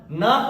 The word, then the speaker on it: know: अगर एन मिले तो, के तुरंत बाद एन मिले तो, या के और एन दोनों एक साथ आए तो के साइलेंट होता है, एन पढ़ते हैं, एन मतलब ना पढ़ते हैं, तो KNOW ये क्या हो जाएगा, नो।